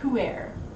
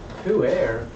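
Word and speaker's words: Pu'er: Poo air? What? It's a type of tea, apparently. Gross. No, it spelled like poo. but pronounced like foo, so what's the difference?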